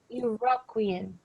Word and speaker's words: Iroquoian: It's called Algonquian and Iroquoian. That's how you pronounce it.